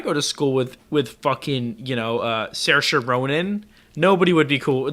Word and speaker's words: Saoirse: I thought you were saying Sarah Saron, but it's her name is Saoirse.